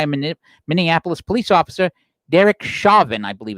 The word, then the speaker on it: Chauvin: was restrained by a Minneapolis police officer, Derek Chauvin, I believe it's pronounced, who knelt on his neck.